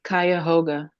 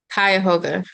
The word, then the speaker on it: Cuyahoga: It's Cuyahoga. Cuyahoga. All right, cool. So we're gonna use Cuyahoga County. I believe this is in Ohio. Cuyahoga County.